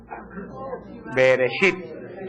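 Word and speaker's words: בראשית: Bereshit.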